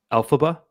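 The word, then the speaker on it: Elphaba: And Olive is being I should know how to pronounce this because it was like the biggest movie ever. Alphaba.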